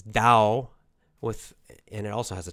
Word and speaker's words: Tao: often you'll see it's D-A-O. But it's always pronounced duh with a D sound. So it's very confusing. It's spelled with the T, T-A-O, but then we say Dao.